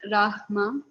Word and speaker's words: Rama: Rama, pronounced Rahma, is the incarnation of Vishnu as the prince of responsibility.